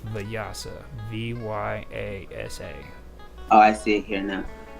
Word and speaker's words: Vyasa: How do you spell it? No, Vetus Vetus. No, Or Veda, and it's Vyasa, Vyasa.